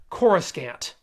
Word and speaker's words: Coruscant: And yes, before anyone starts in, Perry King says Coruscant. The name of the Imperial Center was introduced in Timothy Zahn's novels, and it was typically pronounced with a hard K until George Lucas adopted the term to use in the prequel trilogy and changed the pronunciation to blah blah blah blah blah nerdy stuff.